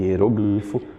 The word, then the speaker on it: hieroglifo: Eu tenho hieróglifo e hieroglifo, ambas as escritas possuem um dicionário, possuem uma referência no dicionário.